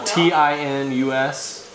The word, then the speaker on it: Tinus: I want to say his name is Tinus. I think I'm pronouncing that right, but I'm going to my verbal counselor here. T-I-N-U-S. Anyway. Then that would be Tinus.